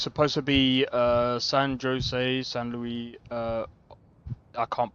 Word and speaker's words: San Jose: So, I I am guessing that um Sano Oh, it's San Jose. That's how you pronounce it.